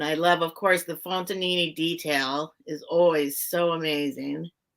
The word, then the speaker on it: Fontanini: And I love, of course, the Fontanini detail is always so amazing.